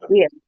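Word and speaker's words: עיר: Ini ain ini kan silent. Ini yot ini jadi I. Jadi bacanya jadi R. apa? Air. Air. Jadi R atau ir.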